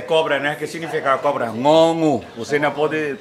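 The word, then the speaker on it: ง งู: Ngongu. Você não pode pronunciar bem. Ngongu.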